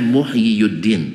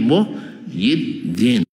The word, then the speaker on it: Muhyiddin: dua tuh muhyiun aslinya cuman karena berat bagi orang Arab dibaca Yi saja gak dibaca muhyiuddin tapi Muhyiddin paham karena dma di atas ya itu berat bagi lisan orang Arab sehingga bacanya Muhyiddin bannya muhyiuddin tap orang-orang